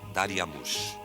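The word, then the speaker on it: Dariamuš: Em acádio, Dário se pronunciava Dariamush.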